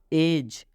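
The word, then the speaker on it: edge: एज, कितने लोग इसका उच्चारण एज करते हैं, तो ये उच्चारण गलत होगा। एज क्या पढ़ेंगे? एज। डी के बाद जी है तो इस डी का उच्चारण नहीं करना है, ये डी साइलेंट यहाँ पर है।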